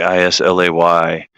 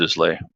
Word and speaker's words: Islay: If it's pronounced Islay, I don't know. I know sometimes the S is silent when it comes after an I.